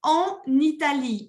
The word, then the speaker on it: en Italie: J'habite en Italie. Y me hacen la liaison cuando empieza con una vocal. Si c'est en I, ya se pronuncia la N.